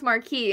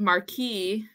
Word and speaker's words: Marquess: Marquess Marquess and then someone told me to pronounce Marquee and I was like I'm pretty sure what's wrong but no if you go go on Google it's called Marquee and then somebody in the